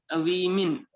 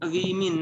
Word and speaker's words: women: The plural of ox is oxen, the plural of child is children, the plural of woman is women. Correct pronunciation is women.